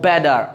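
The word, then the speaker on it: better: যদি বায়েল, দুটি বায়েল থাকে, দুটি বায়েলের মধ্যখানে যদি টি থাকে, তাহলে ওই টিটাকে আপনি আমেরিকান টি বলে, কারণ ওই টিটার উচ্চারণ কি হয়, ডি হয়। আমেরিকানরা অলওয়েজ মাই ফ্রেন্ড ওরা বলে ও বেডার, ওকে বয়েজ, ইউ আন্ডারস্ট্যান্ড?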